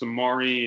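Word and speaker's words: Samori: I will say it does look like it's spelled like samurai, but it's Samari and it's Samari roll, not Rolly.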